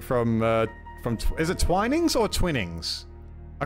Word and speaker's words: Twinings: out of place kind of things yes it's twinings okay okay so I'm I've been saying it